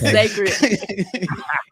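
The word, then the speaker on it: Cécred: I said Secret, but Sacred. It's spelled weird with a C. It's not your fault. It's Sacred.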